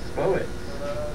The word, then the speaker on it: Spo-it: And right now in the studio we have Spo-it. Rhymes with poet, but there's no poet in it.